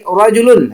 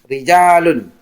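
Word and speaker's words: رَجُل: Kemudian lagi rajulun, hati-hati karena beberapa siswa dalam jawaban membacanya rijalun atau atau dibaca rijalun, yang benar itu dibaca rajulun.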